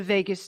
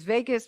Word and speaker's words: vagus: On the right side of the chart is the vagus nerve. And if you don't learn anything from me today, then I want you to look up the vagus. VAGUS, people think it's Vegas.